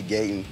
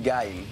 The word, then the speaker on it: Gaiden: I'd be pronouncing it wrong. I thought it was Ninja Gaiden, but Ninja Gaiden is like one of my favorite video games.